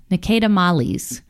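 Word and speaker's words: Ne Cede Malis: It's a Petite Syrah, but the way that you pronounce this Latin word is Nicedamales.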